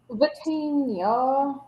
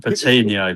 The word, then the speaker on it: Vitinha: Vitinha. Let's see. I always thought they were saying Patino, but it's not it.